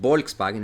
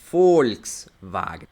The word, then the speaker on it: Volkswagen: sonar como una F probablemente conocen la marca Volkswagen no es Volkswagen es Volkswagen porque es una empresa alem y la v es como una F en ciertas palabras específicas